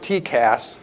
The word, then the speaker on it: TCAS: collision avoidance system work it's called tcats pronounced tcas when you talk the jargon uh it stands for